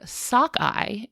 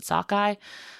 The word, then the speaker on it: sockeye: The word sakkeye is an anglicized pronunciation of the halum word which is sugi. Huh. Yeah. So, like that is like one of the indigenous words for the salmon. So, English speakers heard this like sugi pronunciation and then did their best and called it sakkeye.